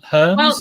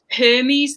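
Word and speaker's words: Hermès: hermes or uh i think he means her herms or hermes it's it's just pronounced hermes though so anyone that says anything other than that i mean they could say hermes herms or some say herbs do they really who says that i used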